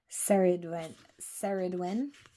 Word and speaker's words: Ceridwen: And we have, is it Serwin? Is that how you pronounce it? We shall see. So it is, I'm going way too far. Ceridwen, and it is Welsh.